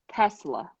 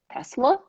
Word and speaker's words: Tesla: repeating themselves just because it's a it's a s sound not a z sound and it took you